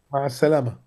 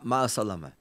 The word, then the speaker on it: مع السلامة: How do I say goodbye in Arabic with a proper pronunciation? مع السلامة. مع السلامة. Ma salama.